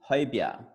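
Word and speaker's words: Højbjerg: causing some troubles is i'm gonna say like in two syllables but it said in one quickly it's hoy hi yeah so but when you say it and speak it will be haibiyah about this signing so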